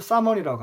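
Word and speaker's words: salmon: 연어를 사먼이라고 합니다. 여기서 LM의 경우에 보통 L이 묵음 처리가 됩니다.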